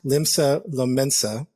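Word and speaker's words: Limsa Lominsa: So, if you go to Final Fantasy 14 online and, Pastor Coco, what's the name of, I always pronounce it wrong. What's the major? Limsa Lomensa, right?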